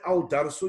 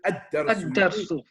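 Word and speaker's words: الدَّرْسُ: that some letters where you won't pronounce the lam. So you won't say al-darsu, you'll say ad-darsu. So you don't read the lam there.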